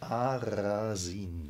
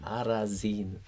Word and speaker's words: Arasin: Arasin. Arasin.